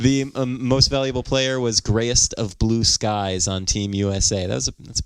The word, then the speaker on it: GryestofBluSkies: Anyway, but keep in mind that Grayest of Blue Skies is spelled Gryest, Grayest of Blue, no E, Skies, all one word. So it's GRYEST. GRYESTOFBLUSKIES. Gotcha. Grayest of Blue Skies.